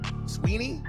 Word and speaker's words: Sweeney: Sweeny.